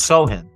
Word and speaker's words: Sochan: Oh yeah, Sochan. They got some good. No, it's Sohan. Is it Sohan? Or Sohan? Yeah. Sohan. Yeah, the C is silent. C is silent C.